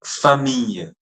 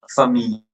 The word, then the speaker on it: famille: Then famille. Famille. Famille. Okay. Famille. Don't say famille. Most I've heard students pronouncing it as famille. Famille. It's not like that. It's famille.